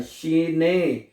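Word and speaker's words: Schnee: इ आ रहा है तो इ को ए पढ़ते हैं जर्मन जुबान में ठीक है जर्मन जुबान में जो इ लफज़ है उसको ए प्रोनाउंस किया जाता है तो क्या बनेगा शने शने दो दफा ए को थोड़ा सा लंबा करना है क्योंकि दो दफा ए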